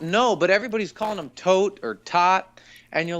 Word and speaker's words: Toht: It's Toht. Like, that's how it's spelled in the credits.